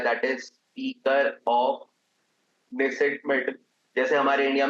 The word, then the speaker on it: Knesset: That is speaker of नेसेट medal. जैसे हमारे India में लोकसभा होती है ना, ऐसे ही इसराइल में जो उनका हाउस होता है उसको निसेट बोलते हैं, इसमें के साइलेंट होता है, राइट.